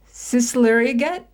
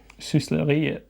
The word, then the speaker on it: Sysleriet: This is the one I have no idea how to pronounce. Sisleriget? Sysleriet.